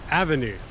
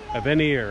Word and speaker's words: Aveny: bike it's the Blix Avenue I actually learned that it's the word Avenue in Swedish so you can kind of customize the name because it totally looks like it says a venire Avenue but that's not